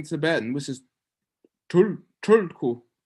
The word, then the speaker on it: Tulku: But they're mispronouncing Tibetan, which is Tulku. It's not quite a T, it's not quite an R. You roll your tongue back, you say tul.